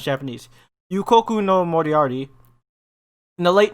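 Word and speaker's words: Yūkoku: one for sure um yokoru yeah no it's not you coco yukoku there we go yeah i can't pronounce japanese yukoku no moriarty in the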